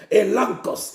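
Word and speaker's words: elegchos: Elankos. Elankos s'écrit E-L-E-G-C-H-O-S. Elankos.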